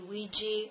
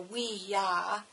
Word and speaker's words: Ouija: rest of us do the Ouiji pronounced either we e e g e Ouiji or weah um is a talking